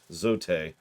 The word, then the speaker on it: Zote: trust me i am zoot the mighty actually it's apparently supposed to be pronounced zote because don quixote a knight of great